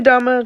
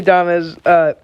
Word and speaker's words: Adames: Willie Adama, just going into this year, really had no talk Can on I him. point out, why is his name not pronounced Adam? Willie Adames, he, going into this year, did not have